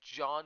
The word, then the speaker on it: Jean: This game's named John with J-E-A-N, but it's pronounced the same as John because he's French.